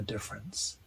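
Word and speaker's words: différance: about something completely different difference with an a difference with an E his change doesn't alter the pronunciation of the word so difference with an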